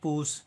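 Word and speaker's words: push: यहाँ पे यू का उच्चारण अ नहीं करेंगे, यहाँ पे यू का उच्चारण होगा छोटी ऊ, ठीक है। और एस एच का उच्चारण होगा तलाबी सा, इसको पढ़ेंगे पूस, इसका उच्चारण करेंगे पूस।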